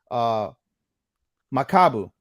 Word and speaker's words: Makabu: I'm gonna say it right for the sake of posterity. Makabu, that's his name.